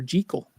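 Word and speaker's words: Jekyll: Jackekal and Mr.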